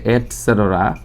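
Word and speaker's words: et cetera: আমরা অনেক সময় এটা ইটিসি বলে ফেলি, কিন্তু আসলে এটা হচ্ছে এটসেটরা, যেটা মানে হচ্ছে ইত্যাদি, ইটি অ্যান্ড সি, এই সংক্ষেপে হচ্ছে ইটিসি হয়, কিন্তু আসলে এটা ইটিসি না বলে আমরা সবসময় বলবো এটসেটরা।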